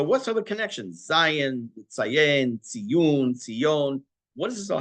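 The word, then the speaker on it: ציון: It's spelled exactly the same way. Tzadi yud vav nun. It's this way, tzion, but it's pronounced tziyun.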